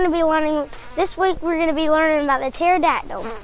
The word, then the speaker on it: pterodactyl: Today we're going to be learning, this week we're going to be learning about the pterodactyl. Did you know that the P is silent in pterodactyl?